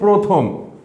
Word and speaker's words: প্রথম: পয়রফলা, এটা উচ্চারণ কি? প্রথম। অনেকে হয়তো প্রথম বলো, কিন্তু শুদ্ধ উচ্চারণ হচ্ছে প্রথম।